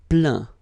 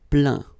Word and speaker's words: plaint: Plaindre, plaint. Okay, and as usual, final T here is not pronounced, so you get craint, contraint, plaint. Okay.